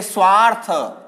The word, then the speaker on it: स्वार्थ: इसको हम सीधा ही पढ़ेंगे, स्वार्थ ही पढ़ेंगे। यहां स की ध्वनि आती है सीधी और इसको पढ़ेंगे स्वार्थ।